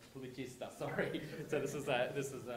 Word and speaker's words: Pubblicista: Pubblicista. Sorry. So this is a lesson in my pronunciation, which is terrible.